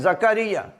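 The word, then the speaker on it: زکریا: नहीं है ये है जकरिया जे के ऊपर भी जबर है काफ के ऊपर भी जबर है रे के नीचे जेर है और ये के ऊपर शद और जबर जकरिया लफ्ज नंबर 14 देखें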